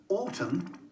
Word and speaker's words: autumn: really tricky to remember the silent n in the words solemn autumn column and him i remind myself that